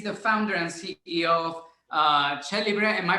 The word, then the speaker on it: Cellibre: Ben is the founder and CEO of Cellibre. Am I pronouncing it right? Cellibre, yes.